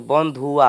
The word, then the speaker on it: बंधुआ: फिरिया बंधु ना जो इसमें है ना य उच्चारण नहीं होगा इसमें य साइलेंट चला जाएगा ठीक है तो बंधुआ हो जाएगा पूरा ठीक है बंधु